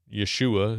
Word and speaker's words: Yeshua: who themselves Jewish but Believers in Yeshua is what they would say right that's really how you would say his name and uh if you're